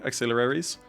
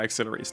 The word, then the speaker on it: auxiliaries: Just try pronounce try to pronounce it the easy way. Axilaries. Axilaries. Ailaries. Yeah, auxiliaries.